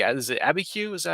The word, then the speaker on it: Abiquiu: Is it Abiquiu?